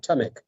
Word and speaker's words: Tamek: i say it right yes it is right tamik tomic okay tamak uh you are